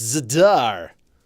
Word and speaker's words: Zadar: It's pronounced Zadar!